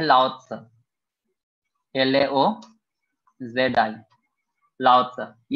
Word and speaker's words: Laozi: Philosopher बोला जाता है ताओइज्म का, ये थे लाओ त्से, LAOZI, लाओ त्से। ये सब PDF में मिल जाएगा। अभी बस प्रोनाउंसिएशन चाइनीज अलग है, इसलिए मैं इसमें चैट